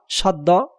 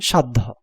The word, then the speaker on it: সাধ্য: ম এ হস মাধ্যম দন্তস আকার ধ জপলা সাধ্য তোমাকে লিখতে হবে তালবস আকার দ হস ধ ও কার সাধ্য তোমরা উচ্চারণ ভিতির নিয়মগুলি